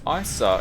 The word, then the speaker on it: Isa: Welcome to Mount Isa. If I'm pronouncing that wrong, someone do let me know if I issa or ISA. It's probably Isa. I don't know why I said Issa earlier on.